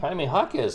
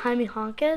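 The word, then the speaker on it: Jaime Jaquez: a really big card haime hakz silver king that's not haime honz where did he play college do you know say James he doesn't know that's how you pronounce it haime haime hakz he play at UCLA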